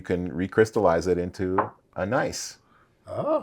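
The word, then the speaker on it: gneiss: it there you go so when you say nice is that the The Rock to spell with a g g n i pronounced in the German e i in German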